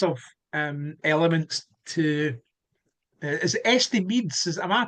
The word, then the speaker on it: Estimedes: there was lots of um elements to is estim am I pronouncing that right so it's it's esus so it's a playing words from estimates and